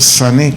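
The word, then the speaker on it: שנא: aborrezcan del vocablo hebreo sané con ese acento en la e sane su significado en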